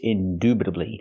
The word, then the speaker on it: indubitably: Again, we don't say indubitably, it's indubitably. Use the long oo sound like moon and soon.